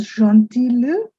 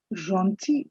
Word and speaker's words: gentil: It's not gentil le, L is silent. C'est gentil de vous. Gentil, again, it is that je sound I have emphasized.